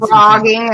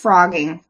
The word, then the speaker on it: phrogging: And you posted frogging. It's spelled P H R O G G I N.